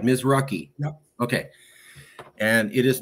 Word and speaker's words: Mizruchi: And we pronounced it right. Mizruchi.